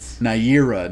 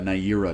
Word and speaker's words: Naira: bad voice or anything uh naira i feel like might be how you pronounce her name yeah oh did i write it down wrong my bad uh but naira naira not neriah yes but like i